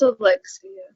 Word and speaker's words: Alexia: Is Alexia? You said it right. It's Alexia.